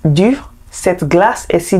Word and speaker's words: dur: Please, do you see the difference in the pronunciations? The first is dur, this one is du.